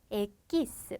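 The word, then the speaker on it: equis: 되지라고 아실 수가 있는데요 어 이렇게 Q 다음에 유가 오면 이거 유를 거의 무시해요 그래서 에끼스 마치 아가 바로 오듯이 소로이 나는 대로 발음을 해 주게 됩니다 그다음 알파벳은 자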